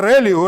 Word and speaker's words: ReLU: easy to calculate that to pronounce it is called a Rayleigh rectified linear units value